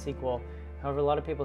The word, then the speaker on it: SQL: a mouthful my SQL sequel is generally sequel sequel is it a a an abbreviation for structured English query language so it's usually pronounced sequel however a lot of